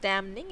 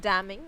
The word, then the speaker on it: damning: Okay so यू can also pronounce it डैमनिंग, बट इट्स नॉट डैमनिंग, इट्स डैमिंग।